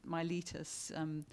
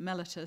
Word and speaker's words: Mellitus: so many different ways anybody who's read acts pronounces my Letus anybody who's done Latin pronounce it mellitus so and many people